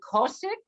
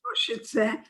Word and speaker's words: Košice: back to your town, how do you pronounce it? Is it Kosik? It was Košice, and Czechoslovakia.